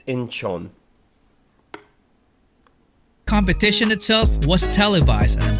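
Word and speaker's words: Incheon: One of their biggest breaks was at K-pop festival in Inenin in 2014. Their whole stay and Uncle Chuck, it's it's pronounced Inchon. I I'm I'm not being an a-hole. I'm just saying it's Inchon.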